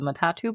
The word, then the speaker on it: matatu: ask you about I don't know how you pronounce this the matatu buses perfect I said it right yeah please tell tell me and everyone else about these buses please oh yeah so matatu I now feel the urge to explain where